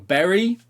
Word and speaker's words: Bury: goes to Neil Warnock for Berry I have been corrected on the correct pronunciation of that I will bury you if you don't stop mispronouncing the name of our place um and then tell